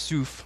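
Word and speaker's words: סוף: is the Red Sea, which is pronounced Suf. Reeds is Suf.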